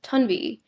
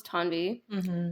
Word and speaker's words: Tanvi: of people um like theoretically my parents could have introduced me as tuni which is I think is worse because that sounds odd to me because I'm not used to it yeah but it's closer in some ways theoretically it is closer to the real pronunciation of my name yeah but anyway so